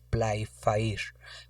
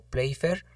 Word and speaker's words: Playfair: como lo queramos pronunciar el play leyendo lo en castellano lo tenemos que leer como play fire oa veces se pronuncia como play funk entonces tenemos el quinto